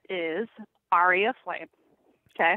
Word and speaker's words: Aria: My band name is Aria Flame. Okay. Oh, it's Aria. We were saying area, Aria. So we said it wrong.